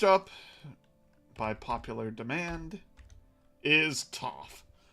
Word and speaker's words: Toph: So next up, by popular demand, is Toph. Because it rhymes with tough.